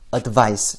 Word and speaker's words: advice: 좀 정확하게 말씀을 드리자면 앞에 거는 advice 좀 짧게 그리고 끝에 S 발음이 들려요.